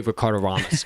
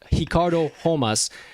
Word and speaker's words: Ricardo Ramos: i did it anyway ricardo ramos got ricardo homas i'm gonna say it correctly got the victory um